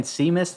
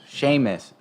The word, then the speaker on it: Sheamus: how you pronounce that i've been saying seamus this whole time sheamus thank you that's a that's an irish spelling uh i believe sheamus is irish okay see now you're